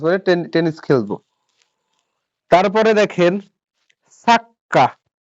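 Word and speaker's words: サッカー: সা পরে ছোট চু। এই যে কাতাকানি দিয়ে সা পরে কি ছোট চু, তো ছোট চু থাকলে কি পরওয়ার্ডটা ডাবল উচ্চারণ করতে হয় না? তো সাক্কা। সাক্কা।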